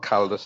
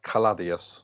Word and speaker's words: Caladius: right yeah sorry and it's not carlodus it's color caladius sorry okay right miss